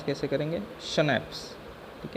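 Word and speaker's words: Schnapps: देखो ये इसको प्रोनाउंस कैसे करेंगे, शनैप्स, ठीक है।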